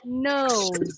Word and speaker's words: nose: How do we pronounce this one? Yo, kira-kira apa nih? Bentar, depan. Any idea? If you Bunyinya apa kira-kira? Nose. Nose. Z. S, Z, ada yang bilang S, ada yang bilang Z. Z, aha, Z, tadi S. Then you are correct. Yes. Yang jawab Z betul.